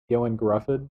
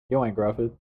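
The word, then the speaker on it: Ioan Gruffudd: Can I tell you how to pronounce it? Yoan Grufford. Joanne Grufford. Yoan Grufford.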